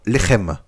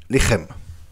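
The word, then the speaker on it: לחם: Par exemple, Lechem. Lechem, en phonétique, je vais l'écrire L-E, H majuscule avec un apostrophe E-M. Lechem.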